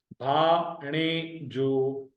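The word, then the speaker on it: ڀاڻيجو: णे, तीसरा ऐसा जो, भा णे जो, भा णे जो। भे और अलिफ जबर के साथ मिले हुए, णूण याणे और ये जबर के साथ मिले हुए, जीम और वाव जबर।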